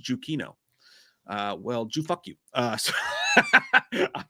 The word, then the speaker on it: Giacchino: And Giacchino is pronounced Giuchino.